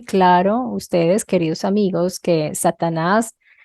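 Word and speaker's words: שטן: esta palabra se origina del hebreo satán o satan y es transliterada como satán se pronuncia satan con la San y significa adversario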